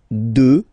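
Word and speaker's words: deux: 2, final X not pronounced, okay?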